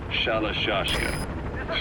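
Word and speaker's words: Shalashaska: somewhere along the line, Shashka got stuck on the end of Sharashka. The guerrillas were using the name amongst themselves, and by the time I got to hearing about it, pronunciation had wound up as Shalashashka.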